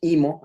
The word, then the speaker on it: EAMO: sus siglas en inglés es EAMO, pero en inglés la pronunciamos IMO, así que voy a estar nombrándola como IMO en la presentación.